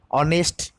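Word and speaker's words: honest: आन का इस्तेमाल करेंगे वैसे ऑनेस्ट ए इधर एच साइलेंट हो गया तो ऑनेस्ट उच्चारित हुआ इसके पहले हम आन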